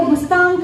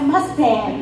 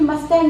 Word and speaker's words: Mustang: trying to say here, because we have our own pronunciation. If you go to Nepal and say, I want to go to Mustang district, and they'll be saying, where on earth is Mustang district now?